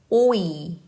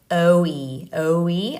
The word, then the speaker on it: 오이: 오이. 오이. 오이. 오이. Try to not do like oe. 아니에요. Just start like this. O.